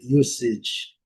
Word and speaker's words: usage: Então, com som de C, som de S, né, com som de C, usage, usage, usage.